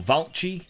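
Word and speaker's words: Vallci: a center-back and it's Albert uh velich or valky that's how you say it valky is Austrian he's 29 I think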